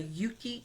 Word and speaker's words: Euki: I definitely encourage, I'll share that tracker here, the Yuki app. It's spelled EUKI.